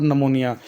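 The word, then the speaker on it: निमोनिया: Respiratory infection, सांस के infection हो सकते हैं, एग्जांपल के तौर पर नमोनिया, ये पी नमोनिया नहीं पढ़ना, पी इसमें साइलेंट है।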